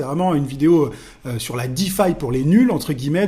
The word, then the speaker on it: DeFi: Tu as sans doute déjà entendu le terme Deffi en crypto. Ça s'écrit de E F I.